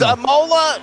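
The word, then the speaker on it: Imola: It is Amola, abbreviated Amola.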